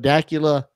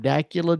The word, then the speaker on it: Dacula: Esposito out of Dacula, Georgia. Yes. He's a 15-year-old Italian-American. Out of where? Dacula, Georgia. Is that Decatur? D-A-C-U-L-A. It's what his dad sent to me. That is where he's from. Dacula, Georgia.